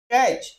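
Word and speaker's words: catch: क्या हो गया के सी एच च इसका उच्चारण हो जाएगा कच स eighty C एच कैच कैच मीस पकड़ना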